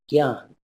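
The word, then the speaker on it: ज्ञान: Gyan, which by the way in North India is generally pronounced as Gyan, is cognate with the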